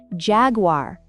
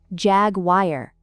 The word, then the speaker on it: Jaguar: Ah, yes, it's actually pronounced Jaguar, not Jaguar.